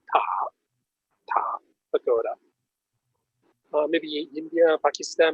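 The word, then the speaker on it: 塔: And in Chinese pronunciation, that is called ta, pagoda.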